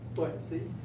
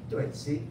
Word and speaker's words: Tuệ Sỹ: Tuệ Sỹ. Tuệ Sỹ.